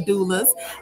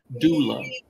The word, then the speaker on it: doula: gotta tell about a doula yes do love pronounce d-o-o-dash l-a-h look right we are